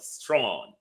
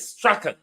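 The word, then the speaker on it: Strachan: He called himself strong. But the pronunciation in British Scottish is Straen.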